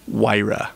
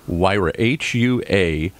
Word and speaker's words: Huayra: 100, Huayra Roadster, 100, Huayra BC, 100.